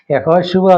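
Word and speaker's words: יהושע: Hosea ഇതിന്റെ എല്ലാം അർത്ഥം യഹോശുവ യോശുവ എന്ന എബ്രായ പദമാണ് യഹോശുവ എന്നാണ് അതിന്റെ ഉച്ചാരണം യേശു യോശുവ ഹോശയ ഇതിന്റെ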